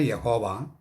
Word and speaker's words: യാഹ്വേ: അച്ചോ, ദൈവമായ യഹോവ ഏകനാണെന്നും ഏകാന്തനാണെന്നുമുള്ള യഹൂദന്മാരുടെ ആ വിശ്വാസം തെറ്റിദ്ധാരണയല്ലേ? അതെ, തെറ്റിദ്ധാരണയാണ്. അതിലേക്ക് വരുന്നതിന് മുമ്പ് ഒരു കാര്യം പറയട്ടെ. യഹോവ എന്ന് ഉച്ചരിക്കാൻ പാടില്ല. അത് തെറ്റായ ഉച്ചാരണമാണ്. യാഹ്വേ എന്ന് ഉച്ചരിക്കണം. യാഹ്വേ.